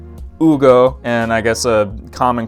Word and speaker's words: Hugo: It's spelled H-U-G-O, so people call him Hugo or Hugo. It's Ugo, and I guess a common question that people